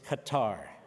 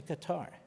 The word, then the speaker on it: Qatar: The main country funding it is Qatar. Q A T A I think they changed the pronunciation but it's always Qatar to me.